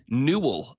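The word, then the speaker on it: newel: middle is called a new how do you spell that NE e w l okay that's how I thought you would spell it all right rhy rhymes with Jewel but new yeah so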